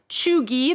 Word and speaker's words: cheugy: front on the guardian today these words are pronounced chugi the first one a word used by generation